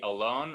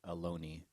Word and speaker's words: Ohlone: the bay area refer to themselves as the alone of costanoen which brings us to cello joe